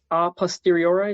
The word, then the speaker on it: a posteriori: Will Misback, and he has a coffee brand called A Posteriori. Is that correct? Yeah, it's Latin, so I'm not 100% sure of the pronunciation. A posteriori, a posteriori, yeah, I've kind of heard it either way.